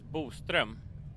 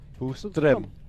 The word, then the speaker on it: Boström: The Swedish pronunciation of it is Boström. Boström.